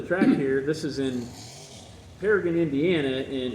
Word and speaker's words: Paragon: This is in Paragon, Indiana, and it's spelled Paragon, but we pronounce it that way for profiling purposes, so we know if you're from Indiana or not.